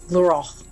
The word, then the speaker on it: Glórach: There are 3 different ways to pronounce it. This is the one I can do. Glórach.